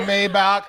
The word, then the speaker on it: Maybach: because it's Maybach. German. Is it Right. German? Yeah, it's German. B-A-C-K. It's like Yeah. Bach, Yeah, the artist. So it's exactly. So it's pronounced in the language of the car maker.